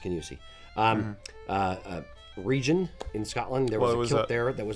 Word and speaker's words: Kingussie: Kingussie pleating is actually pleated the other direction, so